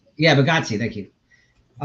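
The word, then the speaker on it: Bargatze: Yeah, Bagazzi.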